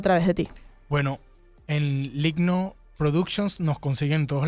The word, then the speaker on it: Lygno: Bueno, en Ligno Productions nos consiguen en todos lados. Ligno se escribe L-Y-G-N-O.